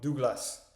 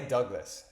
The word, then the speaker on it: Douglas: Madonne Douglas Douglas Douglas Douglas en anglais Douglas mais je suppose en français on le prononce Dougla donc il est avec Dougla